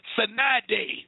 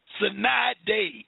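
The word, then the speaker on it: sine die: They call it Sinai Day. Look that word up. S-I-N-E, one word, D-I-E. Sinai Day, I think that's how you pronounce it.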